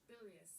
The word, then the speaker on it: bilious: Bilious.